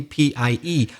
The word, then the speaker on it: pi: pineapple that would be p i e we're just talking about p i which we pronounce pie but i think in spanish you say p but we say pi it would be 22